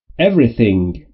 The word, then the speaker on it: everything: تلفظ TH در حالت اول سمیه. Everything.